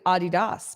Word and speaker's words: Adidas: we know spokane spokane just like adidas is actually adidas but nobody says that ah thank you doug